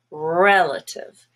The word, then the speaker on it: relative: Relative. But the A and the I here are also schwa.